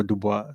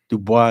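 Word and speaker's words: Du Bois: Dubo or Dubois. Dubo. Yeah. They say Dubois is not how he pronounced it.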